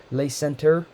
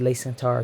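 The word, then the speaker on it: Le Center: I'm saying it purposely wrong but it's late late Center but I pronounced it lay Centaur because it's French it's shortly after the Saint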